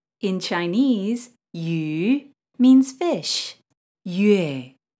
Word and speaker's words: yue: Yue. This sound is created by combining the sounds U plus A.